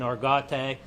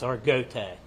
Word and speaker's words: Argote: our go it's a some people's being saying arate but the family it's arot is how they pronounce the last name sorry just to make